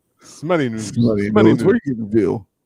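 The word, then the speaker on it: Smuttynose: It's pronounced Smooty Nose. I thought it was Smuttyville. Smutty Nose.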